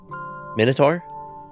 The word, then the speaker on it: Minotaur: Min versus mine, O versus uh and to versus.